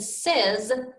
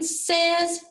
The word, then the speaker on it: says: have to remember to pronounce the letters a and y as e and the final s as z so when your writing says remember to spell the